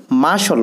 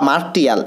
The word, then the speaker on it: martial: এরপরে মার্শাল ল, বন্ধুরা এখানে দেখো মার্শাল, এটি সঠিক উচ্চারণ কিন্তু মার্শাল, মার্শাল না বা মার্টিয়াল, এটি না, এটি সঠিক উচ্চারণ হবে মার্শাল।